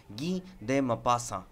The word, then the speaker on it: Guy de Maupassant: all time হিসেবে আর তার নামের প্রপার প্রোনাউন্সিয়েশন হলো গিদে মাপাসা আজকে আমরা গিদে মাপাসার